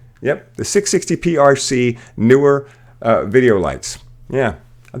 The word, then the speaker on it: Neewer: where someone who says it's actually it's pronounced newer and it doesn't mean anything in chinese they just pick that